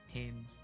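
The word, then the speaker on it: Thames: Perhaps they fall into the fames and drown. Perhaps they are suddenly overcome by a raging fever. Or perhaps attacked by highway men. By the way, um, it's pronounced tames.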